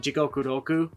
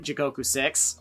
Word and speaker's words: Jigoku Roku: This album is a massive improvement from Jigoku Roku. Yes, that's how you actually pronounce it. Sorry, people who say Jigoku 6. Although, to be frank, you're not technically wrong by calling it Jigoku 6.